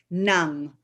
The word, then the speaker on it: ng: NG in the Philippines is pronounced nang.